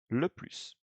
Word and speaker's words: plus: form or le plus, you're going to pronounce S, the final S, which is an exception, of course, because in